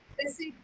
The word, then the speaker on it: receipt: Receipt. Sorry, say again. Receipt. Or say, yeah, receipt. So you don't have to pronounce the P.